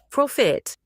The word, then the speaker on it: profit: So if you bump into this one, again, another word connected to French, but pronounced differently. Profit.